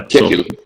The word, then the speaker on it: Ketil: Ketil. Yeah, that's him. Ketil. Yeah, I wasn't sure how to pronounce his name, to be honest with you. Now I know.